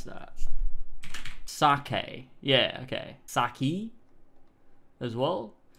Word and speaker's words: sake: Saki? As well? It just says in Japan it's pronounced sake, so we're going to go with that one, because that would make the most sense, right?